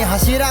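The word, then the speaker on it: 柱: ब्रो सबसे पहले एक इम्पोर्टेंट चीज तो कि हशीरा नहीं, वो हाशीरा है, ठीक है। अभी वो थोड़ा प्रोनाउंसिएशन में होता है ऊपर नीचे, जो लोग नहीं देखते हैं एनिमी उन लोगों को नहीं पता होगा, वो हशीरा नहीं हाशीरा है।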